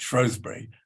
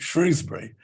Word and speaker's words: Shrewsbury: it's relatively important, but half the inhabitants of it pronounce it Shrewsbury, and they're the incomers, and the other half call it Shrewsbury.